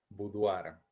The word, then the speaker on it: boudoir: Y en francés no se pronuncia boudoir, bien, se pronuncia como una u. Boudoir, por ejemplo, ¿no?